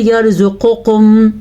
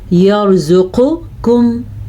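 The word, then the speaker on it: يرزقكم: अगर आप इसको पढ़ते हैं यर्ज़ुक़ुकुम, आपने गलत कर दिया। अगर आप पढ़ते हैं यर्ज़ुक़ुकुम तो भी गलत हो गया। तो इसको हम क्या पढ़ेंगे? यर्ज़ुक़ुकुम, मोटा क़ाफ़ और बारीक।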